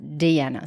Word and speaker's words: Deanna: DAV Dany and Dean spelt like Diana but pronounced Deana so get your D's